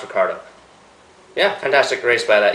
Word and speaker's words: Ricciardo: ricciardo ricardo ricardo ricardo okay let's recard it's pronounced ricardo yeah fantastic race by that youngster 10th place